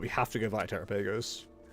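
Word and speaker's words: Terapagos: Like we have to go Verapagos or Tapagos depending on how you pronounce it. Trapagus is correct.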